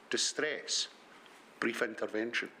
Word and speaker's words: distress brief intervention: It seems to me that the correct way to say it is distress brief intervention.